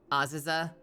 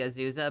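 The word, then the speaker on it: Azusa: to the Renfair in Aziza in California and then get told by everyone that it's actually a Zuza, but you keep saying Aziza because you just read everything with Japanese pronunciate pronunciation.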